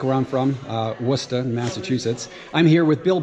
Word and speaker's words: Worcester: Worcester Ohio not like where I'm from uh wora Massachusetts I'm here with Bill Buckwalter uh shop